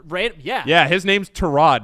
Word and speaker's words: Tyrod: and was like uh actually everybody my name is torad yeah we were like he was in the league for like six years and then just ran yeah yeah his name's torad not Tyron all throughout